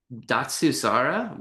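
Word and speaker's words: Datsusara: By the way, did how do you pronounce it? And then what does it mean? Datsuara.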